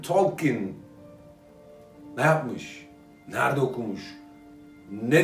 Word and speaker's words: Tolkien: John Ronald Reuel Tolkien. Oxford sözlüğüne göre okunuş bu.